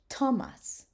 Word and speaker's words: Thomas: And lastly, a TH, we know that the H is silent, so you're just going to give it the T sound as in 10. All right? An example might be Thomas, Thomas.